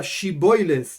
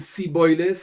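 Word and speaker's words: שיבולת: Entonces, a la Ain la llama Aleph, o a la palabra Shiboiles dice Siboiles, o ese tipo de cosas.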